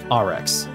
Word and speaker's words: Arex: than you may imagine and yes it's pronounced RX but I'm from the Midwest and I'm lazy plus America right so you're saying that geography sloth and nationalism are your reasons for deliberate mispronunciation of an imported brand well with a foreign